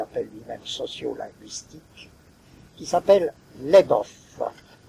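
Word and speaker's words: Labov: lui-même sociolinguistique, qui s'appelle Leboff. Je crois que ça se prononce comme ça, je ne suis pas sûr. L-A-B-O-V.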